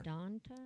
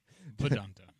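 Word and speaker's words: Vidanta: Verdanta. Yeah. Right. All right. Yeah. Yes. Vedanta Say that Vedanta. again. I always say it wrong. with a V. I said Vedanta.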